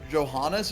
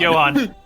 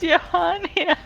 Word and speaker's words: Johan: Not on not on the benited stuff, but Johannes is not how his name is pronounced. It's Johan. Johan. It's Johan.